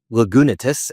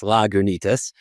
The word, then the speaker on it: Lagunitas: recording because I didn't actually know how to pronounce the brand. I thought it was Lagonatus and it's Lagonus.